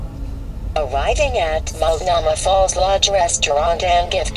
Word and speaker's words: Multnomah: hike to mulnoma it's m u l t n o m h silent h multnomah falls but i'm pretty